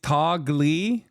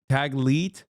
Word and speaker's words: Taglit: It's Tagli, is it? I don't know how to say it. Taglit? Taglit, sorry. I mispronounced it.